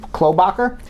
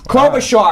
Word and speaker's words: Klobuchar: Iowa surprisingly Amy Klobuchar my pronouncing her name like khlo Bakker she placed third clover Shaw I know I was wrong Amy Klobuchar place the